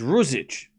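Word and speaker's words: Ružić: Okay, so Rook Rik on the TV. They're saying it wrong. It's ric. It's not Z. It's whatever that letter is. We don't have that letter in English. The Z. It's a Z in the middle, not an S.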